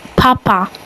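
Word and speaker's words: папа: But it's pronounced papa.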